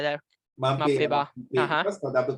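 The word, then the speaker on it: Mbappé: Mape. I mean, I pronounce it like that. Mbappe.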